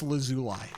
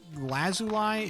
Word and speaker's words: lazuli: La Zuli. Lazuli. I think I think it's Lee as opposed to lie. I think the I'm pronouncing the I very intentionally when it should be the E.